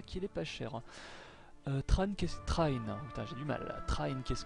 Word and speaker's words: Trine: du jeu Trine alors il y en a qui disent trin mais en fait je crois que ça se dit train c'est comme ça qu'en tout cas que le le mot est prononcé dans le jeu trin qu'est-ce que c'est